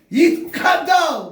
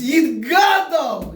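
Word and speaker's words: Yitgadal: How do they say? Yid Kadal. What's Kadal? Kavot Kinol. It's Yid Gadal. You understand? Yid Gadal.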